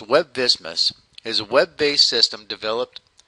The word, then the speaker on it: WebVSMIS: review the reimbursable amount web vsmin pronounced web business is a web-based system